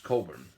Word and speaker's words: Cockburn: At about the same time, the British Admiral Sir George Cockburn, pronounced Coburn, was changing his plans.